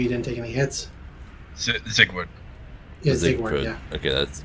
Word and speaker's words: Siegward: Sigward. Yeah, Zigward, yeah. Okay, that's gonna take me a little bit. Well, Zigvard, yeah, that's how it's pronounced.